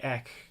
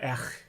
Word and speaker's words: Ech: Because of the Marvel stuff, like I did a video with Brian Moss on Not Brand Ek, or Ech, I think is how you pronounce it.